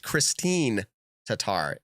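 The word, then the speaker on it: Kristin Tattar: huge bonus either way hey americans it is pronounced christine tatar is it christine oh you know what i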